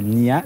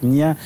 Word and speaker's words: Nian: Voilà, mais ça s'écrit Nian, mais ça se prononce Nia.